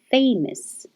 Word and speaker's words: famous: a d famous the forget about the o u s it's not us it's is famous famous amos and now